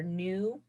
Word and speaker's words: nu: by the greek letter nu you pronounce that new like not old but new but it's spelled in in you and it looks like